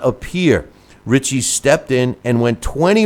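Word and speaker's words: Ritchie: the answer is Willie richy uh which is pronounced Richie uh r i t c h IE and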